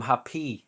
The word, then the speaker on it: happy: because it is wrong we do not put the stress at the end of the word we put the stress on the first syllable i am happy today